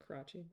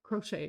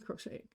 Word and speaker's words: crochet: was crotch crocheting crotchy crochet not crotching crochet it's pronounced differently.